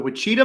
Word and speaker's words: Wichita: The Wichita Mountains. Am I pronouncing that right?